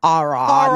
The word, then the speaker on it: Aaron: So, so then um the guy that the parents hate, his name's Aaron, except they all pronounce it Aon.